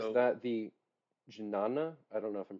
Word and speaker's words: jnana: Even Um, though he says so that the jnana, I don't know if I'm pronouncing that right, but the jnana no yoga, J. No, yeah, it's no J. is no J. You don't pronounce the J.